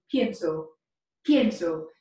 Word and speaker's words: pienso: conjugation of pensar in the present tense is pienso so it's spelled p i e n s o step